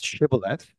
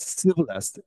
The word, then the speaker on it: Shibboleth: So the in-group people were able to pronounce as Shibboleth, like as in a ship or sheep, right? That's the kind of alveolar fricative consonants. But the another out-group people pronounce this Shibboleth as Sibboleth, as we pronounce like